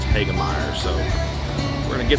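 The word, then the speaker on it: Hoegemeyer: I know it's spelled Hogemeyer, but I believe it's pronounced Hagemeyer.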